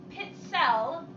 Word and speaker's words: pizzelle: for now uh patty it's pronounced pit cell with a ts sounds like pizza pizza ha haha thank you